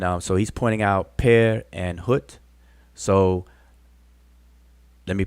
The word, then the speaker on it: pr: this glyph here is transliterated with two consonants P and R and we uh pronounce it as peir some people say per and that's fine uh perir per and then